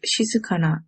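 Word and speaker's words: 静かな: our first vocabulary word this word is pronounced as she sakana it means quiet so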